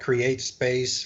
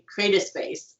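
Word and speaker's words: CreateSpace: And I would always mispronounce it, and everyone has to correct me, and I always say create a space, and they're like, no, it's create space.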